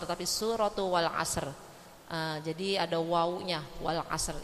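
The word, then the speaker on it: وَالْعَصْرِ: rahimullahuai W Amin suratul asr suratal asr bukan suratul asr tapi surat Wal asr jadi ada wnya Wal asr itu artin W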